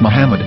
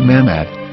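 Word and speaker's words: מחמד: say Hebrew English dictionary it is correctly pronounced as Muhammad not mammad so how we're going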